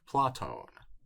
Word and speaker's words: Πλάτων: It sounds like Platon.